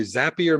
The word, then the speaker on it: Zapier: and then i get zapier is this how you pronounce that yes i have a friend who works there and they say zapier makes you happier so that's correct all right great but the